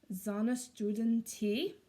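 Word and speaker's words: Sonnenstunden Tee: to butcher it, so it is pronounced Sonnenstuden Tee.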